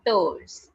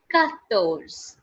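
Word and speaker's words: quatorze: being written down as q-u-a-t-o-r-z-e and it is pronounced as guys ka kattos khattos okay okay after 14 the next number is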